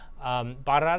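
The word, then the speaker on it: Bairrada: are burrata and Dow bar Arad is fun because you get to roll your R's they're kind of central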